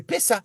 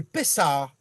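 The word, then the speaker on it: פסח: Pâques, on va marquer Pessa, mais c'est pas Pessa, c'est Pessah. d'accord. Il faut prononcer le A avant.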